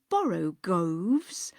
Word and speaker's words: borogoves: Again, the first O in borogoves is pronounced like the O in borrow. I have heard people try to give it the sound of the O in worry.